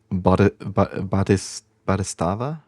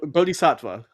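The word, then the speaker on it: bodhisattva: Is it Wait, is it pronounced like batis badava? Uh bodhicattva.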